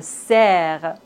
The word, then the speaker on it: cerf: Le cerf. P comme beaucoup. Trop. On ne doit pas prononcer P final.